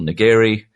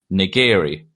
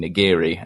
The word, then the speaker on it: nigiri: Um, and so they didn't know how to pronounce niggeri.